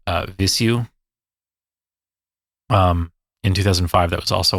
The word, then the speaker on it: Vheissu: It's never been pronounced in real life until they decided to like talk about it. Okay. So like that's the way that they pronounce it.